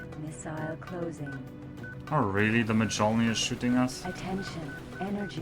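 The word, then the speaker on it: Mjölnir: Oh god, it's still pronounced so terribly. It's Mjolnir.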